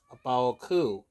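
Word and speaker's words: A Baoa Qu: Yes, Abaoku. Not Bao, Baoku. Yeah, I think it's pronounced right.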